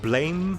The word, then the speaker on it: Blame: The Blame movie is very... Oh, no, sorry, it's Blam, but it's spelled Blame. B-L-A-M-E.